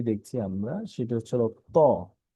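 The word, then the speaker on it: طاء: Next page, আমাদের এখানে যে হরফটি দেখছি আমরা সেটা হচ্ছে হলো ত। এটা একদমই সহজ, বাংলায় তর মতো, তবে এই হরফটি উচ্চারণের ক্ষেত্রে একটু মোটা হবে।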